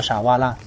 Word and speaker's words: 鰆: 在日语里，春鱼的名字读作傻哇啦，听起来就很优雅。